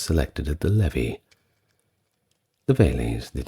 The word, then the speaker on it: Veles: It is pronounced Velites or singular Veles.